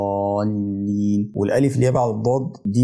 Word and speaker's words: الضالين: نطق خطا يعني ولا الضالين والضاد بتبقى ضاد مش داري انه مش واقف عليها كده او وانطقه يعني اخطفه على الضاد والضاد حرف الضاد شويه مش بخطف يعني اظهره شويه فاقول ولا الضالين والالف ليه بعد الضاد